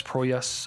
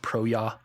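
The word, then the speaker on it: Proyas: movie was directed by Alex proas I believe is how you pronounce it uh I think as a kid I always said proya because I thought it was like as but it turns out he's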